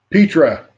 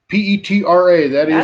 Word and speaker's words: Petra: Petra.